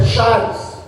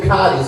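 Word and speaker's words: χάρις: graça no original vem a palavra é chares outros pronunciam cares que significa favor e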